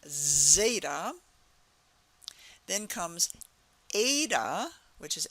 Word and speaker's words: Zeta: is Zeta Ada Theta it all has the a sound at the end but it's starting with first like the z z sound Zeta then comes Ada which